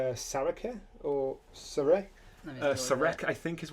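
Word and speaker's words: Szarekh: Um uh I think it's Saraka or Surk I think is what it is. Zar. Zar. That's it. Zark.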